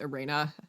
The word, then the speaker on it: Irene: They pronounce they pronounce Ireina Adler's name as Arena. What? It's the German way of saying that name.